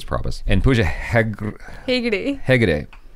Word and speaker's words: Hegde: Hegde. I was going to say Hegre.